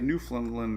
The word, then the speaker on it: Newfoundland: i got pronounced on how to say newfoundland right so there's no d um so newfoundland might